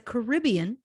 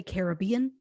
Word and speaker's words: Caribbean: and endless tequila aruba is a caribbean some say caribbean i'm gonna probably go back and forth not that i mean to we're gonna get letters either way yeah 100 um it's a caribbean i already forget which way i went before caribbean caribbean there we go uh island located